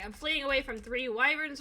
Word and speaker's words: wyvern: not wyvern is because when you spell why it's whh y but you spell wyvern it's Wy so you you wouldn't pronounce the h sound like who there's no h sound and when you say hivern is almost putting an H sound into it and I was like